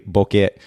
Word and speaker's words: Bokeh: putting in air quotes incorrectly it is technically Bukit we pronounce it Boca for ease of use and so I just